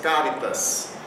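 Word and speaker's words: charitas: CH, esse grupo consonantal CH tem som de K.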